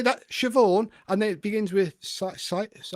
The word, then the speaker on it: Siobhan: You say that Siobhan, and then it begins with Sayaban.